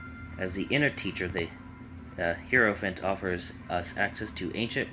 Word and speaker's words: Hierophant: Someone said it's like 4 syllables, and I said like Hierophant, and it's like the HI is a different syllable, so that just threw me off. But Hierophant, trying to find it, and there we go.